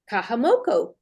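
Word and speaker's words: Kahumoku: your name correctly yes it's it's Kahu which means the priest and moku the land the priest of the land that's what my name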